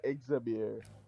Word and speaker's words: Exabir: You pronounce the X like it's an I. So my name Exabir. Actually a derivative of the word Ixabir, which is a Ethiopian Arabic word, meaning let Jah be praised.